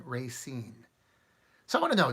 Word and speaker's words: Racine: was called it Racine some people gave Racine they really emphasized a long a and then they they kind of put equal emphasis on both ray and seen Racine so I want to